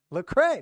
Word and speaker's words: Lecrae: know who that is lecrae no it's not the cray i never heard of